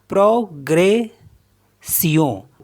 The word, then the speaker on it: progression: Next है PROGRESSION, तो इसको पढ़ेंगे प्रोग्रेसियों, प्रोग्रेसियों मीन्स होता है प्रोग्रेस।